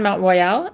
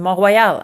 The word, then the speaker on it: Mont Royal: So today, while we were shooting the intro for 20 Dreams for 2015, we were on Mount Royal in Montreal. I have to pronounce it properly. I'm Quebecoise.